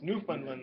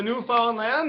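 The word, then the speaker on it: Newfoundland: that's how it's spelled it's new fundland though right is that is that how they say up there and up in Canada e it's the new found land there e you know it's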